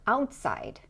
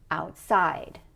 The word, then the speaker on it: outside: If we say it the other way, it's going to sound like this: downtown, or outside, or upstairs. And those pronunciations don't sound natural. Instead, we should say downtown, outside, upstairs.